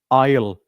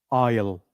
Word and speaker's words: I'll: Ile. A lot of people do not know the right pronunciation of it. So repeat after me. I will comes together we call it ile. Repeat after me. Isle.